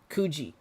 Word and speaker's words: Kuji: Like, all that Kugi stuff. Kuji. Why am I saying it wrong?